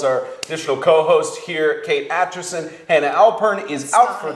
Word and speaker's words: Aitchison: It's Aitchison.